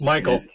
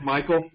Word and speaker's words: Mikkel: name that district 38 it's Michael I asked him that it is Michael okay and then Alison Handley